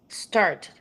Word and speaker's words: started: started. Uh-uh. Because it ends with a T sound, it has the id.